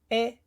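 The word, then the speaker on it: אחד: Echad. This is a short E sound. It's Echad, meaning one.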